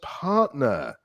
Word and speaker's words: partner: Second word was partner. Hmm. Okay. How many syllables in this one, Aline?